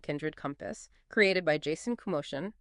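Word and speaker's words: Komoshan: This AI generated conversation explored the real research and personal story behind Kindred Compass, created by Jason Kumosin, pronounced Kumashan, in memory of his mother who lived with Alzheimer's dementia.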